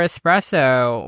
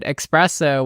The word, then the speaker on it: espresso: I really adore espresso, which I'm pronouncing correctly. In my video, I pronounced it espresso, which many of you guys like came after for me on.